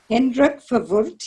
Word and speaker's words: Hendrik Verwoerd: Would you ask Hitler or would you ask Henrik Verwoerd? I don't know if I say his name right. Henrik Verwoerd, is that how you say that? Hendrik Verwoerd, yes, of course.